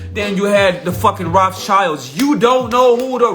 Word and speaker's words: Rothschild: Germany, that is the Rothschild family. Let's go into it. They opened their first goldsmith shop under the name of Red Shield. In German, in German tongue, that's pronounced Rothschild or Rothschild.